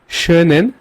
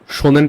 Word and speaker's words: schönen: দেন আছে schönen Tag noch, schönen Tag noch। এখানে একটা umlaut আছে যার কারণে আমি schönen বলছি। আপনি এটা শোনেন টাক বলতে পারবেন না, শোনেন টাক এটা ওয়ার্ডটা হবে না জার্মানে। schönen Tag, schönen Tag noch,